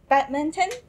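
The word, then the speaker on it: バドミントン: How about badminton? Okay. Badminton. Good try. Badminton. So it's badminton. Six syllables.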